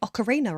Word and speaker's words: Ocarina: Uh, probably Ocarina of Time because everyone hates the way I say Ocarina apparently.